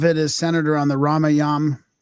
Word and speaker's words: Ramayan: So a lot of it is centered around the Ramayan. I'm so used to pronouncing it with the A at the end, it's hard to stop that.